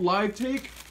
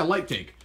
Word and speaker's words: Lightake: what is it called live take or light take sorry for the mispronunciation yeah light take and Jack go ahead